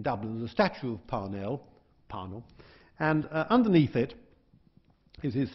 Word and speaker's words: Parnell: My Irish friend said it's pronounced Parnell. Some people pronounce Parnell. But anyway, Parnell or Parnell, he said in 1885,